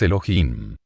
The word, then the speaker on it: Elohim: un final masculino pluralizado la H tiene sonido se pronuncia como J de manera que su pronunciación exacta es Elohim si la palabra Elohim